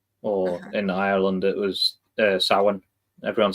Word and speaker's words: Samhain: Sam, people split it as like Sam Hain, but Okay. the MH in the middle is just W basically. Um, it's pronounced like the letter W.